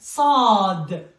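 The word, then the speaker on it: صاد: It is almost, in English we don't have it. We have this one, which is S, but this one is stronger than this one. Stronger than the English S, right? Sa, sunduq, like a book. So. It's stronger than the S.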